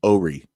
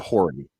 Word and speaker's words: Horry: It's spelled Horry, but it's pronounced Ori. Yeah, Don't call it Horry.